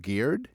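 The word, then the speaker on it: geard: The word garden comes from the old English I think it's pronounced geared g e a r d meaning fence enclosure or courtyard.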